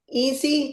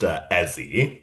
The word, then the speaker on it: Ezie: Um, Easy, did I pronounce your name right? It's pronounced Ezie, but All right, Ezie.